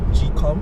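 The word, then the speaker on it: gqom: African house music and calm music is it gcom GQ om yes that's how it's pronounced yeah calm music right and you listen and you're like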